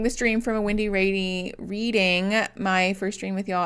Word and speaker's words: Reading: Reading is pronounced Reading.